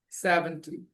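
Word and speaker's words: seventy: focus got it 7 and 70 Tus First part 70 70 Next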